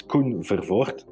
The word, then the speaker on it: Koen Vervoort: a multi-stakeholder environment my name is real flemish and hard to pronounce it's kun fervort i'm the network builder